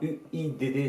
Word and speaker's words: UIDD: Thierry Joussin est venu nous rejoindre au studio à l'Eit Moncassin, le studio d'une idée de départ UIDD, ça se prononce we.